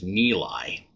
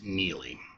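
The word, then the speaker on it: Neligh: I've heard it mispronounced on a couple podcasts as Neeli, which I could see that by the spelling of it, but it is Neely.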